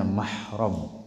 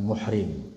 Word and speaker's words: mahram: atau yang bukan mahram ingat-ingat bacanya mahram bukan muhrim mahram banyak yang salah nyebutnya muhrim kalau muhrim itu artinya